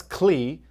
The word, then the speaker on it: Klee: Okay, so the name of the scientist is known as Clee Irwin. His name is spelled Klee.